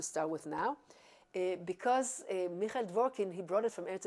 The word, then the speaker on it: Dvorkin: Yes, from Michael Dvorkin.